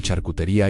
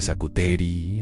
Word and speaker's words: charcuterie: En un momento de la cena pronuncié mal charcutería y Tinsley me corrigió delante de todos. Se dice charcuterie, amor, la T suave.